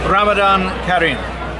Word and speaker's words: رمضان كريم: Ramadan Kareem. Oh, thank you. And I hope I pronounced it properly.